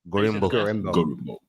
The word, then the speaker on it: Gorimbo: How do you say the last name? Gorimbo. Ooh, that's smooth. You got to put that deep voice on Gorimbo.